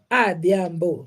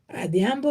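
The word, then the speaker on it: Adhiambo: boy o Theo Oho for a boy and AO like myself I'm called AO I was born at that time so how do you spell that name the Amo you spell it this way a d h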